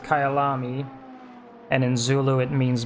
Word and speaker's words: Kyalami: guess sees it says it's the track is pronounced Kayal ami and in zulu it means my home and